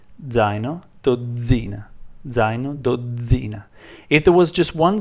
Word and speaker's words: dozzina: So you pronounce this word zaino, zaino, and this word dozzina, dozzina, dozzina.